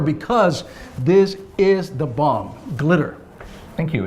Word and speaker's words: GLTYR: again I'm sure because this is the bomb glitter cute it's spelled g-l-t-y-r give life to your reality if